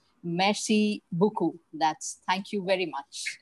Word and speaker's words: merci beaucoup: So as we say, merci beaucoup. That's thank you very much. Is that correct? Merci beaucoup.